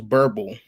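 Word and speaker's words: Boerboel: Borbal or South African Borbal. I guess the other way to say it, well, the real way to say it is Burble. But us Americans, we add our twang to anything.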